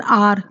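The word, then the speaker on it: hour: क्या लगाया हमने एन आर क्योंकि हम एच को नहीं बोलते है ना एच साइलेंट होती है हम एन आर बोलते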